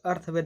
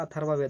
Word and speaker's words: अथर्ववेद: यहाँ पर अर्थवेद नहीं होगा, अथर्ववेद होता है।